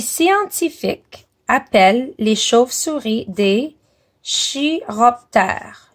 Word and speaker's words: chiroptère: Les scientifiques appellent les chauves-souris des chiroptères. Le ch se prononce comme un K.